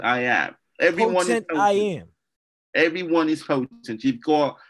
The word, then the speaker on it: Potentiam: Listen, this is potent I am is how I like to say it.